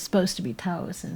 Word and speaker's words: Taos: I keep saying Moab, and then I'm like, oh no, it's probably like Taos. We're only supposed to say it's like one word instead of two. There is only one syllable in Taos.